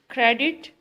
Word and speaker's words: credit: Credit, stress is on first syllable. Cra, and then did.